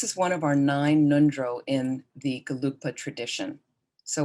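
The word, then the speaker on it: ngondro: pronounced how it's spelled the n-g is in the back your throat mundro mundro it's not nindro it's not in the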